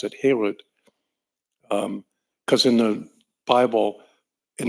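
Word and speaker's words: חרות: And the rabbis say you shouldn't pronounce that word harut, you should pronounce it herut, because in the Bible, in the Torah, there are no vowel markings.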